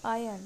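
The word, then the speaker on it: iron: आयरन, ये भी गलत है, इसको हम बोलेंगे आयन, सही प्रोनाउंसिएशन है आयन।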